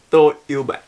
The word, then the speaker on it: Tôi yêu bạn: Tôi yêu bạn.